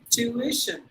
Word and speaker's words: tuition: a sun situation but it's actually three syllables to eat tuition tuition that is how we have to pronounce it and let me